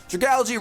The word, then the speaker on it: Dragalge: We have Tangela, Dragalge, as some of you guys have pointed out. That's how the correct pronunciation is. Dragalge, Rotom, because his mascot is Rotom.